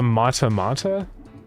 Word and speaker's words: mata mata: It's called the mata mata. This guy spelled like this.